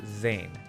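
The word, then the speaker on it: Zain: easy name to pronounce now it's not actually pronounced like that it's pronounced Zan but it man these old white dudes would have a genuine stroke trying to pronounce my name so I just opt for Zayn because it sounds cool and honestly I don't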